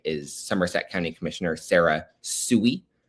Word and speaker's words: Sooy: get confused by is Somerset County Commissioner Sarah Sooy. S-O-O-Y is a sort of interesting spelling for her last name, but that's pronounced Sooy.